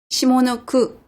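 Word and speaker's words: 下の句: 이것도 우리가 원래 아래 하자는 시다라고 읽을 것 같습니다. 그죠? 옛날에 뭐 미싱 시다 구함 그랬는데 보조원 할 때도 쓰고 그랬는데 시다라고 읽지 아니하고 시모로 읽는구나 라는 것을 우리가 알아야 되겠죠.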